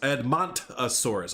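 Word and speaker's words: Edmontosaurus: viewing uh outcrop viewing area there it's it's pronounced edmont asaurus ah okay cool i appreciate that first start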